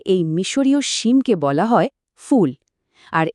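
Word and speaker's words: فول: আরবিতে এই মিশরীয় সিমকে বলা হয় ফুল। আর এর উচ্চারণটা ইংরেজি ফুল শব্দটার মতো।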